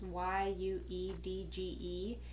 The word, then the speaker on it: YUEDGE: I bought the huge I believe it's how it's pronounced is why you dge they're the Universal 18